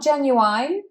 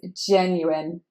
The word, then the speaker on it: genuine: Not genuine, no, that's not how we read it. It is genuine, genuine. Stress is on the first syllable, genuine. It's an I at the end.